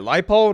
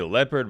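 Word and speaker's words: Leipold: you got Lance lipold that's how you say it right lipold I always when I see it I want to say leopard but no no no it's lipold but yeah anyways look at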